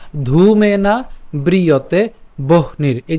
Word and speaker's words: বহ্নির: সো ধূমেনা ব্রিয়তে বহ্নির, এই যে আমরা এটা একসাথে উচ্চারণ করব, ভাঙানোর জন্য ভেঙেছি কিন্তু উচ্চারণ করার সময় একসাথে উচ্চারণ করবো, বহ নীর, বহ নীর যথাদর্শ, বহ নীর।